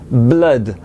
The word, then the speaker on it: blood: moitié réalisent bladé alors blad ça ne se prononce pas du tout comme on l'entend trop souvent blog ça rime avec love et sun le soleil ou le fils sun blood love pour bien le prononcer il faut viser entre le 1 et le love blade sun par contre